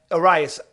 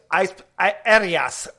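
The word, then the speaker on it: Urías: Yeah, Urias. Arias. We're Spanish. That's the way I pronounce it.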